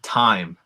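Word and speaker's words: thyme: a th Teresa uh the herb time is spelled at TH as well t-h-y-m-e time so those are examples of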